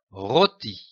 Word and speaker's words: rôti: Ici, attention au O avec un chapeau. Il faut noter que le chapeau sur le O est un accent circonflexe. Ici, il faut lire un O long, rôti.